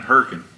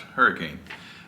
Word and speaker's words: Hurricane: or his valerie just said the hailey in herkin hurricane utah and then if you're from anywhere else it would be pronounced hurricane so um it's hurricane there it's hurricane in